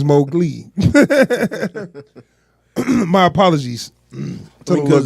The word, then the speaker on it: Mowgli: I've been saying his name wrong for a long time. I've been calling him Mowgli, but it's Mowgli.